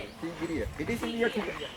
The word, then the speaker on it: Sigiriya: Sigiriya.